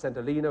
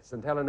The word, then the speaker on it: St. Helena: The only reason I hesitated at the end is it's pronounced St. Helena, which you said St. Helena.